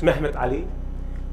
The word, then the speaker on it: Mehmet: as enterprising as muhammad is a turkish way of pronouncing the word muhammad it is because turk at that time also was ottoman empire was well known actually to almost different parts of the world so they used mehmet of egypt he is